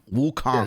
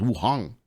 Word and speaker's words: Wukong: Wukong. Yes. I thought it was Wuhong. Like the K is silent.